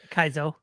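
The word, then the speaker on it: Kaizo: Anything Kazo, Kaiso, however the how you pronounce that. Kaiso.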